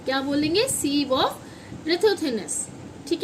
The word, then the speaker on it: sieve: बच्चों, इसको बोलते हैं सीव ऑफ रथोथिनेस। सीव ऑफ, ई इसमें साइलेंट होगा, सीव ऑफ रथोथिनेस, रथोथिनेस, थिनेस।